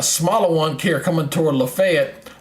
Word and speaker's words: Lafayette: one here coming toward Lafayette Lafayette not laf Lafayette it's Lafayette in Alabama it's Lafayette in Georgia okay go figure they got two different ways of pronouncing Lafayette so um but yeah this